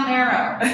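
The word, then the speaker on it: Mero: Oh, Marrow. Marrow is a bone marrow, but it's spelled M-E-R-O.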